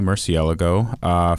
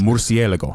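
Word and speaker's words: Murciélago: So I bought a 2003 Lamborghini Murcielago from the last... Correct pronunciation. That's very right. nice. Murcielago, yes.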